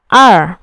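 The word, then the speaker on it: 二: 四个同学。Chúng ta cùng nhau phân biệt lẻng và er. Số 2 thì có lúc đọc là er, có lúc đọc là lẻng.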